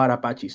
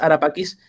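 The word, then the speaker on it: Ara Pacis: dice en italiano, por ejemplo, Arapachis, ¿no? Porque Ujú. en italiano se pronuncia como che. Pero es Arapaquis, el altar de la paz.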